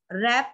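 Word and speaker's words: wrap: रैप में W silent है.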